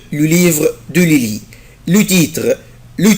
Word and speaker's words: livre: livre الكتاب انطقها ازاي livre livre, livre. Je ne prononce pas la lettre E après la lettre R.